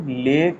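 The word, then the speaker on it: leg: जैसे उदर, उदर मतलब एब्डोमन, कमर वेस्ट, और पैर, इसको कुछ लोग लेग, लैग बोलते हैं, ठीक है, ये लैग, ये गलत है, ठीक है, इसका ठीक प्रोनाउंसिएशन क्या है, लेग।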